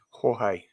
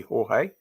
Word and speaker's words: Jorge: Jorge. Yes, could be Jorge, I suppose. I think that's how it's pronounced in Spanish or even Mexican.